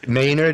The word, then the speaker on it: Maynard: Maynard. Maynard is how we pronounce the last name.